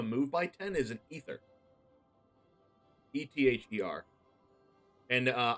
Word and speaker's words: ether: ether e-t-h-e-r and uh i've always pronounced that growing up as a kid ether you found an ether which is very wrong and i didn't know until about three years ago that was actually pronounced ether but i've always